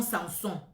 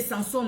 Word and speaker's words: Samson: Ou Samson, ça dépend comment vous allez prononcer. Dans ma langue, c'est Samson, parce que moi je prononce tout, mais ici en France, c'est Samson. Bon, on prononce comme ici en France, Samson.